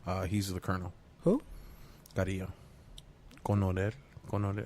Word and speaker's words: Coronel: Coronel.